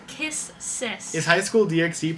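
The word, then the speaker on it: Kiss×sis: But they don't pronounce they don't pronounce the X, so that's kiss sis.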